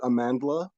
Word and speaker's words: Amandla: it is it Amandla Stenberg? I think. Yes. Yeah. Okay. Oh, did I add an extra syllable in there? You Amanda. removed an L.